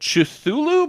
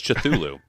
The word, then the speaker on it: Cthulhu: I thought it was Cthulhu. The great thing about pronouncing Cthulhu's name is there's no wrong way to do it because human vocal cords can't produce it accurately.